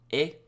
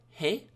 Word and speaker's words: へ: And then we have our particle here, e. One important note about e is I know it's written like he, but it's pronounced like e, like that hiragana character,